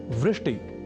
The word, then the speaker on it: वृष्टि: एक शब्द है वृष्टि या वृष्टिह। पर कभी-कभी हम में से कुछ व इस अक्षर का उच्चारण ब के रूप में कर दिया करते हैं। और वे बोल जाते हैं वृष्टि या वृष्टिह।